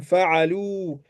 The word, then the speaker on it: فعلوا: Le alif ici, on l'écrit mais on ne prononce pas. Hum fa'alou.